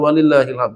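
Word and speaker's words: وَلِلَّهِ الْحَمْدُ: Jadi bacanya kita baca pakai alif lam, walillahil, bukan walillahi. Walillahil hamd, di belakangnya ada huruf dal, jangan dihilangkan. Caranya kalau dimatikan apa? Dikolkolahkan, dipantulkan. Walillahil hamd, bukan walillah ilham.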